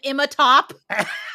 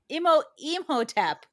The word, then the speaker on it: Imhotep: call him Imatop? Yeah, he did. Imatop. And I was Imatep. busy hitting the pipe to correct him. Imatop. Imhotep.